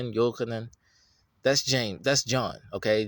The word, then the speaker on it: Yochanan: No, it's kind of close. But you can't, no, say it right. Yochanan. Put a Y there. Put a Y-O-Chanan. Say Yochanan. Your name is Yochanan.